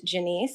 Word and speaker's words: Janiece: to add also that my name is pronounced Janiece and no big deal you